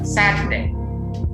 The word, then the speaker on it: Saturday: Nah, R-nya itu nggak kedengaran ya, Saturday.